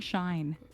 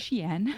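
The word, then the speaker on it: Shein: how you say it I've been saying shine is it Sheen yeah it's Sheen I don't sh there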